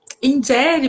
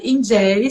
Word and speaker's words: Njeri: Tipo, igual meu nome, né? Ingere. Ingere pode ser pronunciado ingere, se você vai pensar com os bacongos, mas também pode pronunciar ingere. E a gente também herdou muito isso dessa pronúncia. Ingere, também na língua portuguesa.